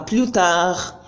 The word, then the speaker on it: plus tard: If you could notice, you see that the last T in à bientôt and the last D in à plus tard, I didn't pronounce them.